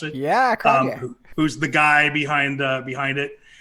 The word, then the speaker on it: Cronje: the person, actually Andre Cronje, I think you pronounce it. Yeah, Cronje.